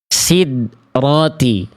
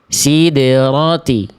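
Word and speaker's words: سِدْرَةِ: Ini contoh pelafalan yang kurang tepat, yaitu tidak dipantulkan huruf dalnya. Contoh. Sidrati. Itu huruf dal sukun bacaan yang kurang tepat. karena tidak dipantulkan. Harusnya kita baca side, sideroti, sideroti.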